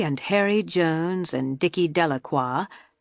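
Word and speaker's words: Delacroix: Harry Jones and Dicky delaqua the villagers pronounced this name de Croy eventually made a great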